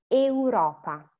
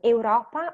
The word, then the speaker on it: euro: No, if it's we know we have the A and the U, so you have to pronounce them both.